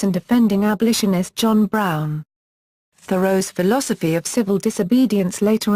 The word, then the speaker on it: Thoreau: be pronounced vu row with the H sounded and stress on the first syllable another perhaps more common